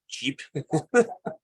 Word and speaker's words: GEP: Like, does it need how do you pronounce this? A GEP? You call it GEP or Jeep? Gap, okay. Yeah.